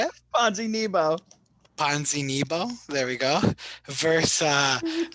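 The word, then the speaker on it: Ponzinibbio: bibu how do you say it ponzi nebo ponzinibo there we go verse uh lee you didn't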